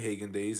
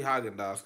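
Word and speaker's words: Häagen-Dazs: I grew up saying Hagin days and I was like from colleague now I see haagen-dazs cos a friend of mine ingrained in me and talks all my that's how it's pronounced that he he made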